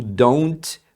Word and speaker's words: don't: pancada só aqui também o don't você pode não pronunciar esse T Então você vai ouvir muita gente falando I don't think so I don't think so aliás pode acontecer inclusive do d aqui como ele acaba ficando no meio de vogais eles pronunciarem com um R Então você vai ouvir pessoas falando I don't think so então isso daqui você acaba ouvindo como Iron Iron I don't think